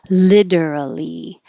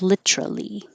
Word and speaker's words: literally: y skew or skewer literally change the t to a d literally or keep the t and make it three syllables literally all of these extra